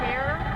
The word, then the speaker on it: Cahir: Anyway, we're going through Cahir, Ireland. That's how they pronounce it.